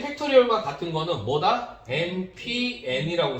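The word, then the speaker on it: factorial: 했냐면 n 느낌표 이렇게 쓰게 되어 있어요 이거를 뭐라고 읽냐 팩토리얼이라고 있습니다 팩토리 얼 앤 팩토리얼 이렇게 있습니다 양키들도 알아먹어요 알겠죠 그래서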